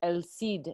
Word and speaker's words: El Cid: so if you're an El Cid is spelled like el seed CID and not si D